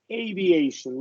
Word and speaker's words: aviation: And then this word is aviation, long A.